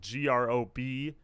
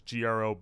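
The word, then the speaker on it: ГрОб: The other thing, too, that people pointed out is that GROB is just coffin in Russian. So no one says their band name as GROB.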